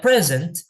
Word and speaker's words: present: di sini ada dua ada dua cara pengucapan itu ada ada yang ditekan di depan ada yang ditekan di belakang ya present ya present itu present itu berarti dia menekannya di awal present tapi ada yang present ada yang present ada